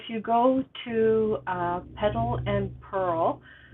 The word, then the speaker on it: Purl: If you go to Petal and Purl, that's spelled P-U-R-L, like pearl as in knit and pearl, .ca, not com, .ca, because I just live outside, I live in BC, Canada.